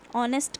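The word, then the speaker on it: honest: ऑनेस्ट के आगे क्या लगेगा? एन. एन क्यों लगेगा? क्योंकि जो इसमें एच होता है वो साइलेंट होता है और ओ से स्टार्टिंग हो रही है, इसलिए इसमें क्या लगेगा?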